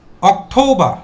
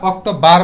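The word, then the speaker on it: October: সেপ্টেমবা এরপরে আছে অথৌবা। আমরা কি বলব? অথৌবা। অথৌবা এটা বলব। আমরা অক্টোবার বলবো না। কি বলব? অথবা বলব। এবং লাস্টের আরটা সাইলেন্ট থাকবে।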